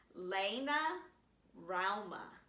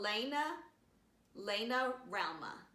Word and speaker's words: Laina Rauma: So I found a post on her Tumblr page, and it's LAINA RAUMA. And she says like round, but with an M-A. So LAINA RAUMA.